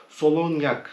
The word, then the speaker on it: Solognac: var en küçük başlayalım Bu solon yak solon Yak diye okunuyor İngilizce solognac diye yazılan böyle bir bıçağım 8,5